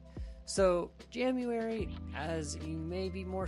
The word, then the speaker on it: Jamuary: And yes, I did not mispronounce January. I did say Jamuary. So, Jamuary, as you may be